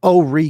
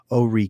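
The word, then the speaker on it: Horry: talk like that and say we're in ore county but it actually is ore county even though it is spelled h-o-r-r-y um interesting so let's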